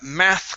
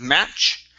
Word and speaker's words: math: Next up is math classes instead of match. Okay, give me a TH here.